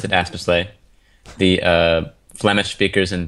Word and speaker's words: Aspeslagh: weird country i'm astorsley it's pronounced we pronounce it aspersley the uh flemish speakers in belgium pronounce it aspeschlach and um we think it may have originated